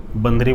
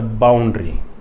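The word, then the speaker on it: boundary: देखिए कहीं आप गलत ना सुन ले, नहीं तो बंदरी बोलेंगे तो आपको थोड़ा सा अजीब लगेगा, तो ऐसा कुछ है नहीं, मैं किसी का दिल नहीं दुखाना चाहता। इट्स अ बाउंड्री, उसको गलत प्रोनाउंस मत करिए।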